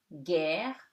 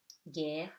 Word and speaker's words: guerre: With U, it becomes G. You don't read the U, okay? The letter U is silent before G. So it before EIY. So it gives you guerre, guichet. Okay? Guerre, guichet.